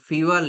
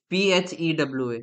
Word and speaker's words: Phewa: It's Fiwa Lake. Pokhara. It is situated, yeah. No, it's like, it's Phewa. Yeah, Fewa Lake, it's situated Fiwa in the Lake.